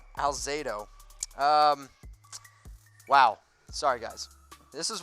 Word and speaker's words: Alzado: I used 77 in honor in the most bad-ass Raider, Lyle Alazdo. Wow, I pronounced his name really wrong. I literally can't speak right now. Alzado.